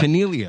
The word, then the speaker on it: Caniglia: Caniglia, all right. G is silent.